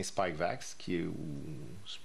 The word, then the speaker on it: Spikevax: Alors, comme vous l'avez entendu déjà la semaine passée, Santé Canada a autorisé le vaccin Spikevax, c'est comme ça qu'on le prononce, là, de Moderna pour les enfants jeunes, les très jeunes enfants.